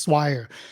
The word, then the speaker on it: Swire: My name is not hard to pronounce after you know how to pronounce it. It's just Swire.